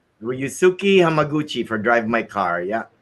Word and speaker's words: Ryusuke Hamaguchi: Then you have Reskoe Omaguchi. I think that's how you say his name. Ryusuke Hamaguchi for Drive My Car.